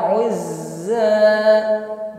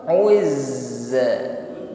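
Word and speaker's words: عُزَّى: Huruf zai tasydid ya, ditekan membacanya. Saat menekan huruf zai, alirkan bunyi hurufnya, bukan tertahan. Bukan uzza tetapi uz. Huruf zainya alirkan ya. Dan ketika bertasydid maka sifat as-shafir, desisnya ini tadi semakin kuat.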